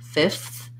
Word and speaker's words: fifth: i recommend here is in a word like fifth we have the f and th together so ideally you can put the whole thing in fifth but you'll hear that often that f will drop off and people will just